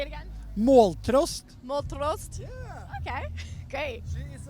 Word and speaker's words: Måltrost: Måltrost. Can you pronounce that? Wait, say it again. Måltrost. Moltrost.